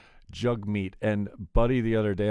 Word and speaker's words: Jagmeet: jug meat sing uh it's spelled jag meat but i've heard it mostly said jug meat and buddy the other